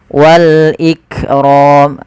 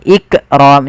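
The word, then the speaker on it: والإكرام: harus dibaca dengan jelas Wal iqrom lafal Kaf ik ik tapi bukan ikqram jangan sampai memantulkan huruf Kaf kemudian padafal ro rnya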